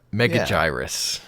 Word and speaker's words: Megaguirus: vers something mega mega mega gyrus yeah I definitely knew that was a soft G and then the last